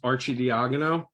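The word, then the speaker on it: Arcidiacono: My last name is pronounced Archie Diagono.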